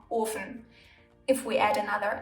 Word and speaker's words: Ofen: If, however, the consonant is single, the vowel in front of it is pronounced long, like in Ofen. There's only one F, so the O is long, Ofen.